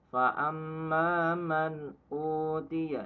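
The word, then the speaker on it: فَأَمَّا مَنْ أُوتِيَ: Berarti cara bacanya fa amma man uti, nggak boleh fa amma man, salah. Atau enggak fa amma man, salah. Fa amma man utiya, jelas ya.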